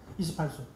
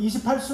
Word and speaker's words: 28수: 근데 28수 할 때 숫자가 숙박할 때 그 숙자예요. 묵을 머무를 숙자인가? 뭐뭐 숙자인가? 근데 그게 별자리로 읽을 때는 수라고 읽어야 돼. 이거 28수 그러면 저 망신당해요.